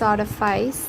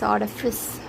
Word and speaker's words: artifice: wrongly pronounce this as artifice but this is artifice and are a fizzer okay r is silent in british rfi artifice and rfiser